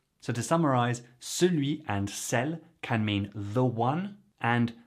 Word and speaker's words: celles: By the way, CELLE is pronounced the same as CELLE since the S is silent.